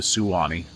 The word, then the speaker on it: Suwannee: So, maybe they're just getting in the river because we are close to the Swanee River here. Or the Suwannee River. I think it's technically how you really pronounce it.